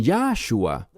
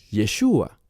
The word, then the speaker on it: Yeshua: él es divino y ellos dicen yahua bien Hay un problema no con el mensaje no con su intención sino que yahua no es hebreo es una creación humana para pronunciar ese nombre y es incorrecta No es fiel a lo que dice el texto que llamarás su nombre yeshua aquí lo vemos en